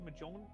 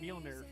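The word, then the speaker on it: Mjölnir: In fact, the unshielded Mark IV, I think it was, of Majon. God damn it! Fuck. God. Yeah, I know. I've been listening. No, I can pronounce it, Mjolnir, but I've been listening to the audiobooks for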